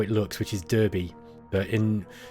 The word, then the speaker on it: Derby: it looks which is derby but in in the uk in the midlands where i'm from this is my hometown it's pronounced derby d-a-r-b-y but it's it's spelt like that it's just one of